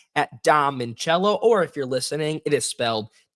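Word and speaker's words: Dom Minchella: As you can see on the ticker down below, you can follow me on X at Dom Mincello, or if you're listening, it is spelled DOMMINCHELLA.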